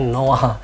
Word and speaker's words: noir: Terus ada juga noir itu dibacanya noir.